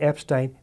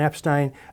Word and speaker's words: Epstein: Brian Epstein came from, by the way, the pronunciation of his name, he preferred Brian Epstein. And would correct people early on when they said Epstein, but then he just got tired of it. And so everybody sort of knows him as Epstein, although he would have preferred the pronunciation Epstein, according to people who